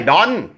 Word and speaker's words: don't: ครับ Don't ไม่ ใช่ Don't นะ ฮะ Don't เรา พูด ครับ Don't ให้ มี น มี ท ตอน ท้าย ครับ Don't Don't แล้ว ก็